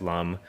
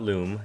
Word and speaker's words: Lum: Obviously pronounced Lum L u M, not Loom.